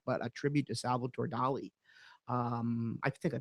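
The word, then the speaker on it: Dalí: She did an incredible, I don't want to call it a duplicate work, but a tribute to Salvatore Dali. I think I pronounced that right. Dolly, That right?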